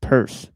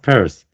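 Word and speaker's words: Peirce: Charles, but I'm sure it's pronounced purse, but but I could be wrong. Um Yeah, it's pronounced purse. Yeah, sorry. Yeah. Interesting. Yeah, it's got a weird name. Yeah, because it looks like Pierce. It looks like how like just how Pierce looks. So, I don't know why it's pronounced Pierce, but I think the E and I are in different places.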